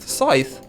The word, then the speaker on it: Scythe: Scythe.